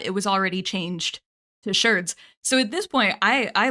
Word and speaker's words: sherd: We use sherd to mean pieces of pottery, and it is generally pronounced sherd instead of shard, so it's sherd. It rhymes with nerd because archaeologists are, and it really does specify pottery.